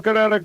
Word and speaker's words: Kinetico: You should have remembered kinetic as in kinetic energy with an o on the end, Kinetico.